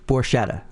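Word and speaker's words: Borchetta: Scott Borcetta is in the studio. Did I say that right? Close enough. It's Borcetta.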